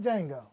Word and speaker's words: Django: Just Django. The D is silent, it's French.